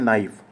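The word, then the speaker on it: knife: जैसे एग्जांपल के तौर पे नाइफ होता है। के एन आई एफ ई लिखा होता है। आप क्या पढ़ते हैं? नाइफ। के साइलेंट रहता है।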